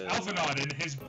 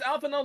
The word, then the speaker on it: Alphinaud: It's Alphanod and his sister, Sir, not appearing in the main story. Yeah, no, it's Alpha Node Leveler. It's there's a D at the ALPHINAUD. Yeah, Yeah, the D is silent.